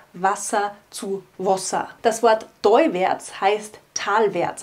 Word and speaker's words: Wossa: weggestrichen wurde, und Wasser, hier haben wir wieder die Vokaländerung von A zu O, Wasser zu Wasser. Das Wort teuwärts heißt talwärts, also das Wasser rinnt talwärts.